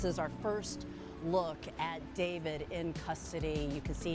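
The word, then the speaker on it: d4vd: David, pronounced David, gained popularity among young fans for his blend of indie rock, R&B, and lowfi pop.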